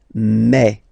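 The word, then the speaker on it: mes: Okay, so for the phonetical or pronunciation aspect of it, then remember that this es here combined will give you the sound eh. Okay, so you'll pronounce it like me, okay, te, so logical,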